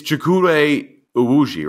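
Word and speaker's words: Chukwudi Iwuji: And then, It's Chukwuma Uwuji, right?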